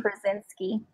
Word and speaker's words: Krasinski: John Krasinski, is that how you say his name? John Krasinski, yep.